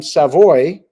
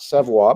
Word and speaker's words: Savoie: of the World Junior was calling him Savoy, not Savoie, but Savoy. And he said, don't be mad at me when you send me text messages. I'm telling you how the player wanted it pronounced.